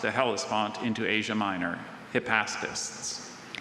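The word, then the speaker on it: hypaspists: Hippastpists.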